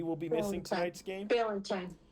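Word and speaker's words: Ballentine: second stream cornerback but he's out uh Corey blaten I think is how you pronounce his last name he he will be missing tonight's game Valentine Balentine Balentine really okay so he he's going to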